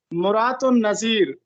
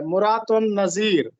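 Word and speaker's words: مراۃ النظیر: درست لفظ کیا ہے۔ مرات النظیر میم پر پیش ہے اور تے پر بھی پیش ہے، مرات النظیر، مرات النظیر۔ اس کا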